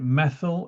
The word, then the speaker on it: methyl: So the methile some people pronounce it methyl it doesn't matter.